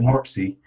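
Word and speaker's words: MORPC: You say it MORPSI, and it's a regional planning commission, and they're very active.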